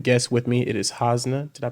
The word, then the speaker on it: Hasna: an amazing amazing guest with me it is hosna did I pronounce that right yes you did okay okay